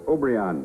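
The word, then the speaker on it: Obregón: Pepito, Manuel, Obregon. That's Obrion. The J in Spanish is pronounced like an H.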